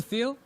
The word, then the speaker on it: Thiel: Peter Thiel.